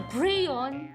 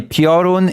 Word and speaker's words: Piorun: I'm sorry, Piorun is not a complicated word. Okay, I'm gonna put my foot down. There's no way you should be just twisting the word into a prion.